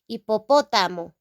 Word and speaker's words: hipopótamo: Now in Spanish, the singular form is hipopótamo, hipopótamo, hipopótamo, with an accent in the letter O, okay?